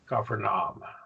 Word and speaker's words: Capernaum: Kaparan, Capernaum. See, ah sounds Capernaum. So there are your three syllables.